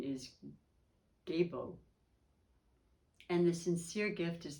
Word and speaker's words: Gebo: Pronunciation is Gebo.